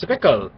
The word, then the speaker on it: Zwickel: It is their flagship beer, pronounced Zwickel, an unpasteurized, unfiltered German classic.